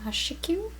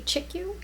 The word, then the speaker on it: Chikyu: I believe it's pronounced Chikyu, or it could be Chikyu. It's C-H-I-K-Y-U.